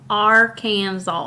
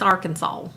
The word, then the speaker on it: Arkansas: Kansas get over yourself Arkansas our Kansas Arkansas no you gotta put I'm going to intentionally just mispronounce it now you gotta put a little twang in there it's Arkansas I'm gonna intentionally mispronounce